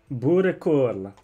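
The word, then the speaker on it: boerenkool: Borekul.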